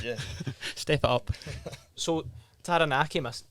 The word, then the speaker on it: Taranaki: So Taranaki, am I pronouncing that correct? Taranaki.